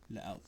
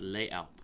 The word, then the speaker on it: Les Alpes: No, No, it's French. Well, it depends on which side of the country you're on. No, I'm talking about Switzerland. Fudge. Swiss fudge. They pronounce it different. They have a different type of French, dude. Okay. Sorry. It's Les Alpes.